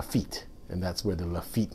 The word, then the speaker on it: Lafite: some people call it lai fei and that's kind of a chinese pronunciation of it so that's this is